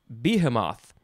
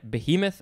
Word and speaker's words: behemoth: is the word behemoth i used to say behemoth because i didn't know how i didn't know what that word was but both are totally fine behemoth and biomath and the